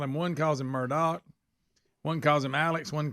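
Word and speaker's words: Murdaugh: him one calls him Murdoch one calls him Alex one calls him Alex well I'm looking at this name that name is not Murdoch but that's how they say it that's how they say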